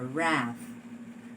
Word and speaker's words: wrath: this is a wrath do you hear the sound of the w in the initial position no okay this is what we call a silent letter in other words since this has no sound the w has no sound in this particular word then when you transcribe